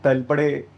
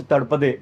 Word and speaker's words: Talpade: लेकिन तलपड़े, Yeah. Which is actually pronounced तड़पदे, Mm-hmm.